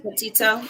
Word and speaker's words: Petito: Petito.